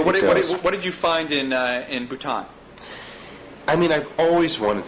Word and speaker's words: Bhutan: So one of my favorite chapters was the chapter on Bhutan. Is that how you say it? Bhutan.